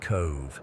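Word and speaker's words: Cobh: I had the day off from teaching and decided to drive out to the town of Cove, pronounced Cove for those who don't know.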